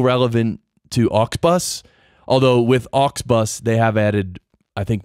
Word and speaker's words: Auxbus: craft but pod craft has become ox bus an ox bus is spelled aux be us and the website is